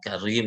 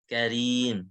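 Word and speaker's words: كريم: Nggak boleh karim, karim kan ada orang tuh baca dia karim, salah. Karim, karim. Simpan di tempat mami aja dulu deh. Karim gitu ya.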